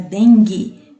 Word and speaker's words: dengue: palavra dengue e água quando você pronuncia a palavra dengue não aparece o som da letra U certo então farinha dengue não